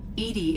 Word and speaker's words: EDI: by operator lawson why are you named edie edie is the phonetic pronunciation of edi that is an acronym for